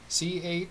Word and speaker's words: Chamon: I'll spell it for you. Shaman? CHAMON.